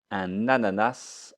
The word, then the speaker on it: un ananas: bizarre c'est un ananas un ananas attention je fais la liaison hop un ananas ensuite